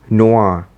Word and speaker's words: Noir: a quick check with google it is apparently pronounced as noir here's the ko version of spider-man noah he comes with this gun and also a